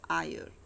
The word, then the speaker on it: heir: Now look at the pronunciation of this word, heir.